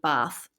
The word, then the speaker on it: Bath: She also ended up at a grammar school in Oxford and she did study business at the University of Bath.